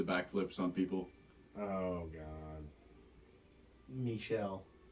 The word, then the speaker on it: Michel: Michelle. I believe so. Like that. Like Michelle. Ben Stiller's right hand man on Dodgeball, you know? Yeah. Gigantic security guard looking guy named Michelle.